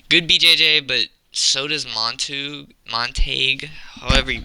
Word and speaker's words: Montague: Moving on up the card, Marabueno Silva versus Michelle Montague. It's not pronounced montage. We're not playing Call of Duty today.